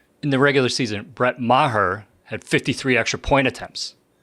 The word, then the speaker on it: Maher: the Cowboys kicker Brett Marr yeah that's his name yeah no it's not pronounced Mar it's pronounced Maher right like I'm going to murder you after the show yeah